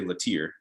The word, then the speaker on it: Lattier: So I'm from North Carolina, and North Carolina people say Lattier, and that's kind of what I go by when I'm here.